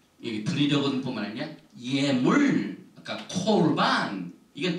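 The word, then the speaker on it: קָרְבָּן: 이게 보니까 야크리브 미캄 콜반 여기 이제 파타게 이렇게 나오는데 아로 발음은 거의 다 합니다. 카르반인데 특별히 이 쉐바가 그 다음 오면은 이걸 반드시 오로 발음해요. 카르반이 아닙니다.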